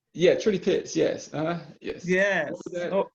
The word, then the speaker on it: Trudy Pitts: Judy Pitts? Yeah, Trudy Pitts.